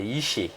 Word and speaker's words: Yiché: Merci Jean-Jacques, bonsoir, c'est Yiché.